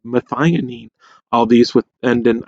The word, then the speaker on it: methionine: acid it is called methionine all these with and an IND those are pronounced een so methionine and you'll see that